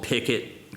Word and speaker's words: Picket: It's called Picket, kind of after a fence post, but it's spelled like Wilson Pickett's last name.